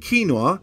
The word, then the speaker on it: quinoa: but spit out the tough shell amaranth and quinoa yes that is how you pronounce it are two protein rich grains that